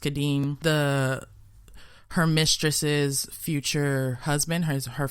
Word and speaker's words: Kadim: service to know Kadim, I think his name is pronounced Kadim, her mistress's future husband,